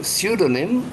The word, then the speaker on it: pseudonym: the king of dumbled so pseudonym you don't pronounce it P just pseudonym is it clothes hanger